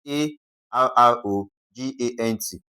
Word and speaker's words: arrogant: Okay, so for arrogant, the stress should be on the what now? The third syllable from the last. So, this is first, second and third. Okay, so A R should be stressed.